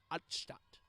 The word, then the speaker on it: Altstadt: Now, might be Altstadt, but because I know German, and these are German syllables, Stadt meaning city in German, I'm going to be saying it with a German accent. Altstadt.